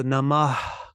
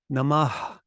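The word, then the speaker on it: namaḥ: it as an echo it's just adding the the H sound at the end of a word so namah namaha it does have a bit of an echo in it but don't overdo the echo so it becomes a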